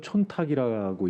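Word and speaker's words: 忖度: 그 일본에 있는 관행 중에 손탁구라고 혹시 아십니까? 한국말로는 촌탁이라고 읽혀지는데 그게 무슨 뜻인지 아십니까?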